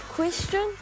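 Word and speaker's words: Kwestian: Me cuz actually my real name is Question. Yeah. Yeah. It's spelled K W E S T I A N.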